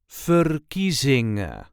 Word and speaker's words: verkiezingen: There is a light emphasis on the second syllable fingering or furizing.